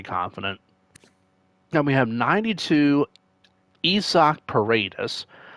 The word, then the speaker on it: Isaac: Now we have 92 Isak Paredes. I think for some reason it is pronounced Isak, but I leave it as Isaac, Isaac Paredes.